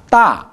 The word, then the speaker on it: 大: 입을 많이 벌려야죠. 아니까, 大.